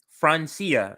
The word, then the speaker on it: Francia: afro-colombian environmental activist francia marquezmina who's just been francia so i want to make sure i say